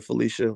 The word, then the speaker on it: Phylicia: actually uh elaine uh you spoke felicia like my grandmother felicia which it means i like you a lot for doing that but oh actually it's spelled p-h-y p-h-y felicia rashad yeah i think that